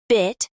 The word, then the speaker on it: bit: In bit, the tongue is slightly lower and the vowel is shorter.